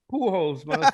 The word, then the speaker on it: Pujols: know Johnny what's his last name though Johnny who holds no does not feel bad John why why would you would pronounce it like that I know it's spell